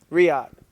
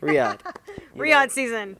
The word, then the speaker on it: Riyadh: Riyadh. Excuse me. To the Prince. Riyadh.